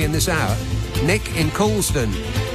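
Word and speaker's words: Colne: this hour Nick in Colon which is not really how it looks but colon is how it's said if a lord paid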